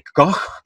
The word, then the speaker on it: Koch: Il y a quelqu'un qui m'a dit qu'on ne disait pas Koch, mais qu'on disait Koch, parce que c'est un mot allemand. Donc, j'espère l'avoir bien prononcé cette fois-ci.